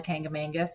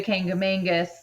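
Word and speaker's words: Kancamagus: There's like it's called the well, now there's like new controversy how it's pronounced, but I call it the Kangamangus because that's how we said it when I was little. So we drive through the Kangamangus, which is like a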